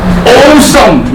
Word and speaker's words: awesome: 네, 그래서 awesome이라는 말을 배우는데 awesome, 야, 대단하다, 멋지다, 오라고 표현하면서 오 하고 여기 aw가 오라고 발음 나옵니다.